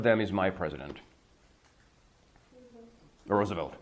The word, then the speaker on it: Roosevelt: is my president the Roosevelt right they pronounce it Roosevelt because it's a Dutch name it's a long story